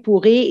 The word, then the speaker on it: pourrais: Je pourrais commencer le travail, pourrais is a future tense, d'accord? If you don't put the S or you put the S, the same pronunciation.